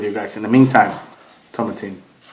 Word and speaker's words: Tomatin: In the meantime, tomatin. It rhymes with satin.